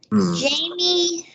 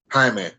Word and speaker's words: Jaime: So the Heat, I would say Jamie, the rookie Jaime. Jamie. Jaime. Jaime. Okay, Jaime. You know how to Jaime.